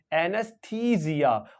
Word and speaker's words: anaesthesia: एच है anus और ये जो ई है यहां पे ई को ई नहीं प्रोनाउंस करेंगे लो भी लॉन्ग ई प्रोनाउंस कर देंगे एनेस्थ एनेस्थीसिया और ये जो एस है उसको जड प्रोनाउंस करेंगे तो इस तरह से ये प्रोनाउंस करेंगे एनेस्थीसिया क्या प्रोनाउंस करेंगे एनेस्थीसिया